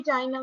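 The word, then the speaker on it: qi: Balance state में होनी चाहिए, यिन यांग थ्योरी। और इन्होंने लाइफ फोर्स को बोला क्यू, क्यू, क्यू आई, ठीक है। प्रोनाउंस इसको प्रोनाउंस करते हैं ची, ठीक है।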